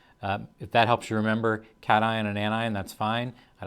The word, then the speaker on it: cation: positively charged atom a cation i've heard people pronounce it cation that's not how it's pronounced it's pronounced cation and in the flip